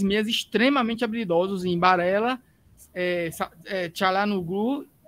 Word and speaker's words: Çalhanoğlu: Çalhanoğlu, né? Às vezes não pronuncia o G.